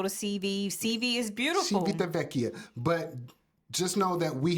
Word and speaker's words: Civitavecchia: We did have an experience while we were in Just say CV. Civitavecchia. That's how you say it. Civitavecchia.